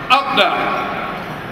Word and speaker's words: APPNA: of north america after but pronounced update because it means ours in urdu hours so this is our